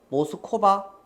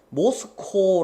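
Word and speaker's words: Moscow: 대시 생략되어 있는 자리이다 모스코바에서 모스코바이라고 읽으면 안 됩니다 여기는 아이다호 주니까 미국 시내입니다 미국 시내 미국 모스코 코라는 동네에서 여러해 이전에 여러해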